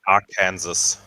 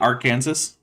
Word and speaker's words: Arkansas: it's pronounced Arkansas. Yeah, Gyro. you know it's actually illegal in Arkansas to say it Arkansas.